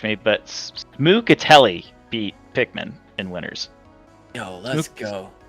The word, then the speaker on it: Pikmin: confident playing that Claren why are we saying Pikmin instead of Pikman because we just realized we were saying it wrong pikm Pikman Pikmin pikm